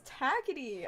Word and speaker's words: Takiti: Correct pronunciation, greater than, Takiti.